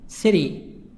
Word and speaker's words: city: City, city. T soft D.